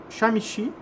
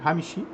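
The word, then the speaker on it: חמישי: Yom Shamishi, né? Ou Hamishi, né? Tem o som de R. Hamishi, que é o quinto dia.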